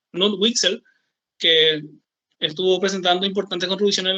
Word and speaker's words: Knut Wicksell: Tenemos después la escuela neoclásica, donde el principal representante fue Kuhn, o sea, la verdadera pronunciación es Knut Wicksell, que estuvo presentando importantes contribuciones al análisis del valor y de distribución.